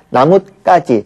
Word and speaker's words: 나뭇가지: 나뭇가지, 그렇죠? 나무와 가지 사이에 시옷을 넣어서 뒤가 까지로 발음된다는 것을 표시하는 거거든요.